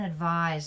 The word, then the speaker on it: advise: it's always a noun advise which is pronounced the zed sound is to give an